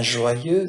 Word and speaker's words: joyeux: Donc la liaison, il consiste à prononcer en une syllabe la consonne finale d'un mot habituellement non prononcé, un joyeux, donc le X ici ne se prononce pas.